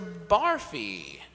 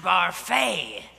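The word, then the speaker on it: Barfée: Barfy. It's pronounced Barfay.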